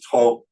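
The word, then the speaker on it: 兔: It's pronounced tu, or in Cantonese to, but it means rabbit.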